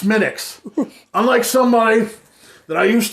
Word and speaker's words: Smithwick's: this is a red ale yes and it's pronounced smitics unlike somebody that i used to know who thought he's really smart and irish he would call it smithwicks smithwicks and i would say frankel's it's not